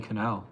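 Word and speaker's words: Kinal: effing good yeah Tony Canal I think that's how he pronounce his name k i n a l he's amazing super underrated the No Doubt Bas player yeah Tony Canal is his name yes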